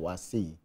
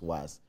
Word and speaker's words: WAEC: Difficult in the sense that the BECE, unlike the WAS, or what people normally call WAEC, even though the right pronunciation is WAS, has a different grading system from the WAS.